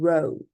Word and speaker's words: row: But then the other meaning, to row, so it's a long O sound, that is to propel, to move a boat forward with an oar doing this action.